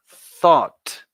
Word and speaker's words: thought: on camera your turn be careful with the pronunciation here repeat after me class thought okay just like the end with death you got to release Air you do the same here thought but at the beginning thought and is the